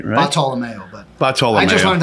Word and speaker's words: Bartolomeo: Bartolomeo, but Bartolomeo. I just learned how to pronounce it last week too, yeah, so don't feel bad.